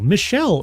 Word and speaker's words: Michelle: I guess I said it wrong earlier. It was not Michael. I thought it was... I pronounced it Michael. Michelle Barrios.